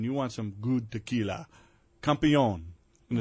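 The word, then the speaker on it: Campeon: want some good tequila campion and it's spelled like camp c-a-m-p e-o-n small batch single barrel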